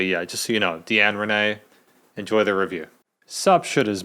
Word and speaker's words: Deann Rene: In this review, I've said Deann Rene. It's actually Deann Rene, so Deann Rene.